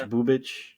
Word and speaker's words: Bubic: I think it's Bubich. Bubic. But there's but there's no thing. So there's no there's no H. Well, there's no there's no there's an accent.